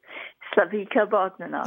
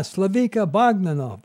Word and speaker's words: Slavica Bogdanov: Our guest, Slavica Bogdanov. I hope I said that right. Did I do that? Did I pronounce? Yes, almost. Okay. Tell me how to say it. Slavica Bogdanov. Ah, Slavica Bogdanov.